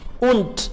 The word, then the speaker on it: und: und das, और ये, und D आखिर पे जब आएगा तो T प्रोनाउंस होगा और अदरवाइज D ही प्रोनाउंस होगा।